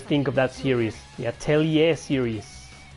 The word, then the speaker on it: Atelier: The Atelier series. It is pronounced Atelier. I used to pronounce it Atelier. Like Atelier. Atelier. No, it's Atelier.